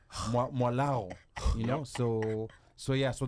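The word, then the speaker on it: Mwalagho: In fact, the way your name is spelled is Yes. very interesting. It's Mwalago.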